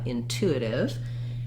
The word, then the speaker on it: intuitive: there uh intuitive um but then the second t sounds more like a d it's a flap t because it's between two vowels and it doesn't start a stressed syllable because intuitive is stressed on the second syllable what i recommend is